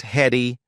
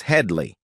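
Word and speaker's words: Hedley Lamarr: boundaries in its appeal it's not heady it's headly Headley Lamar the recurring joke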